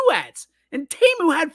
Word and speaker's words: Temu: Sammy, I am glad you said that because Temu is apparently how you pronounce it. We've all been saying Temu because it is the world's worst website.